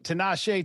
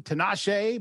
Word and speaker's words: Tinashe: Tinashe, by the way, is originally born in Zimbabwe, which is how you remember to say his name right.